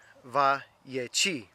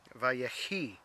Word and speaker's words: ויחי: And if I pronounce it right in Hebrew, it's Vayechi, Vayechi.